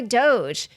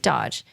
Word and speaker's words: Doge: He added, "Bitcoin could be displaced by Ether, which could be displaced by Doge," although I think he pronounced it Dodge, "which could be displaced by Hamster Coin."